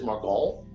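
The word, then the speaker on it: Morgon: uh uh of um my favorite is margol it's spelled like Morgan m-o-r-g-o-n um but anyway they have the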